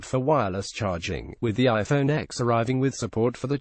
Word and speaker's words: iPhone X: Apple event on Tuesday the iPhone X pronounced iPhone 10 is the company's first